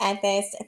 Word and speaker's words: Ethyst: It's Ethist. Thank you. ETHYST. Um, ETHYST. Yes, yeah, ETHYST. it's Ethist.